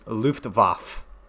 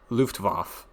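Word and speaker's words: Luftwaffe: It's Luftvaf that's how it's pronounced the inner Germans coming out of me. Luftvaf force and claimed they were one of the good ones.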